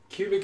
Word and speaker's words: Qubic: computation it's it's just QBC pronounced cubic is a way of